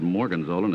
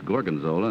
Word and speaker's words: gorgonzola: didn't mispronounce the name he said Morgan Zoltan it's gorgonzola and number three of